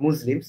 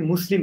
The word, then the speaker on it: Muslim: ঈদ ul Fitr is the biggest festival of মুসলিমস। আমরা অনেকে মুসলিম বলি, উচ্চারণ হচ্ছে ইংরেজিতে মুসলিম।